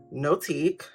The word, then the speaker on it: NOTIQ: Founded in Texas and loved globally, NOTIQ, that's how to pronounce it, inspires meaningful and elegant living with an enchanted line.